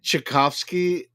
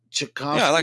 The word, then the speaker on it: Tchaikovsky: of it well I I think it's pronounced Tchaikovsky he's a Russian composer